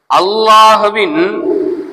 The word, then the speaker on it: الله: பதில் என்ன அப்படின்னு சொன்னா அல்லாஹ்வின் லாமுக்கு முன் ஜபர் அல்லது பேஷ் இருந்தால் அந்த லாமை நிறைவாக பல்லிரமாக தபீம் செய்து உச்சரிக்க வேண்டும் சரி இப்ப நான் சொன்ன